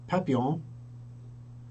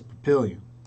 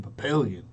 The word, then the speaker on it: Papillion: Unless you are Parker, who calls it Papillon, or you are Walgreens Pharmacy, who calls it Papillon, in their recordings. If you're in Nebraska, it's Papillion. I live in Papillion.